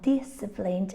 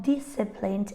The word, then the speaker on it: disciplined: And all these words have a silent C. It's very common to find a silent C when it appears after an S, because they are both sibilant sounds, and it's like the